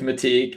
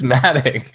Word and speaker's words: Matic: I think it was a thing too with like with Matik and dude, it's Matic.